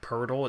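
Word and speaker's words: Poeltl: nas and a 2020 first okay I like hurdle which is actually how it's spelled like pol TL but it's like Pirtle it's super super weird I like Pirtle is a backup Center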